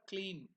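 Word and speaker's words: क्लीं: slowly around the head uttering clean be manra clean k l e e m you can see that clean the pronunciation I will go to the meaning of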